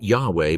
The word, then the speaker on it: Yahweh: Centuries later, some readers took that hybrid combination as if it were the actual pronunciation, and thus the form Jehovah appeared in certain Western traditions. In parallel, most modern scholars consider the vocalization Yahweh more likely based on linguistic clues, theophoric names such as